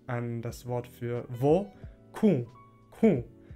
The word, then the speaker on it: ku: Das wird mit einem deutlich nasalen u ausgesprochen, u. Und das ist, glaube ich, im Standardalbanischen nicht der Fall. Da sagt man dann Q, Q mit einem normalen U.